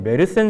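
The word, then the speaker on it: Meerssen: 그래서 870년에 메르센 조약이라고 하는 게 메이에선이라고도 이제 발음을 하는데 그냥 통상 우리가 알고 있는 대로 제가 메르센이라고 얘기를 하겠습니다. 메르센 조약에 따르면 870년에 빨간색의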